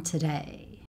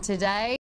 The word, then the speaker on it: today: From today. From today. Today. Today has the schwa sound. T. Today. And remember that the schwa sound is lazy. It's never stressed. So day is the syllable that's stressed here.